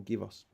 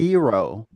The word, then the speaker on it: gyros: Or gyros. I'm told it's pronounced gyros. It's gyros. Gyros. Gyro. Yeah. No, you don't pronounce the G. Like apparently. A hero.